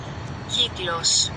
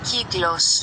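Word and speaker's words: κύκλος: Kiglos. Kiglos. Kiglos. Key. Oh, like a key. And then glos. Rhymes with close.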